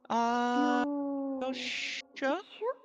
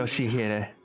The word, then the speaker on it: Yoshihide: Yoshua? 아니, No, that's not how you read it. 그렇게 읽는 게 아니라 Those letters. 요시대라고 읽는 Yoshihide. That's how you say it.